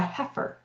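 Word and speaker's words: heifer: she's had a baby we call her a heer. So h e i f e r is how you spell that.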